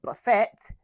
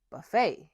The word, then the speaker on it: buffet: Don't say buffet, say buffet.